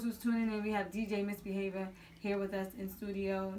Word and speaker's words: DJ Misbehavior: It's DJ Misbehavior. Yeah. I was saying misbehaving.